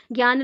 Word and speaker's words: ज्ञान: ma'am यहां पे तो जनन लिखा है एक्चुअली इंग्लिश में ज्ञान को ऐसे स्पेलिंग में लिखा जाता है जे एन ए एन ए ठीक है ज्ञान लक्षण इसको पढ़ा जाता है तो वी ऑफें